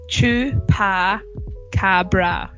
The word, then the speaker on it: chupacabra: you're gonna sorry also don't know how to pronounce it it's true par Cabra so if you want to break it down